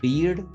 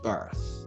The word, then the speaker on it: birth: A lot of people might say beard, or beard, but it's birth.